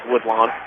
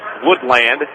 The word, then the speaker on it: Woodlawn: enough they're going first we think they're being pronounced as woodlon the PA announcer the last two times that woodlon has been here has been calling this Woodland but woodlock being introduced